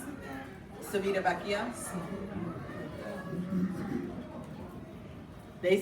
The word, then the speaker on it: Civitavecchia: It's leaving from Civitavecchia, which is why we're all gonna take that,